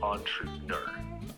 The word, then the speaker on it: entrepreneur: can pronounce it sure entrepreneur is pronounced as entrepreneur let's break it down on like an on true rhymes with du Pro like the beginning